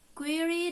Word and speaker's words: query: foliage mirage and edge query does not rhyme with fairy nor does fury sound like very dust last past and